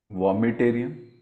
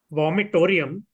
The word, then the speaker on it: vomitorium: Vomitarium. Coming back to you, Samanth. Vomitorium.